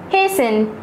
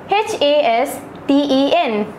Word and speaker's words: hasten: Hasten, H-A-S-T-E-N. Fasten, F-A-S-T-E-N. Remember, in these two words, T is silent.